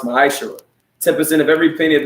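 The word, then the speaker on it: מעשר: It means 10th in Hebrew, and it's pronounced ma'ashara.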